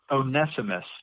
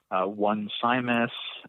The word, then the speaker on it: Onesimus: it right and I'm gonna go with onesimus today as the proper pronunciation Onesimus but we could probably come up with all kinds of ways to mess up that name we could call him once I miss or onesimus or any